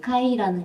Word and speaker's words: 까이: 예, 약간 까와 카의 중간 발음인 카이라는 것이 힌두어로 이제 흰소라는